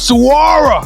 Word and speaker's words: Saguaro: so welcome to the stage head coach of Saguaro did I say it right coach yes sir